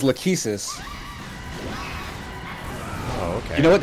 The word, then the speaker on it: Lachesis: Rachel says, well, if it helps, it's pronounced Lachesis. And she's the key to the next area. She's the measurer. So I'm trying to think of something related to that. Yeah, we've been saying it wrong.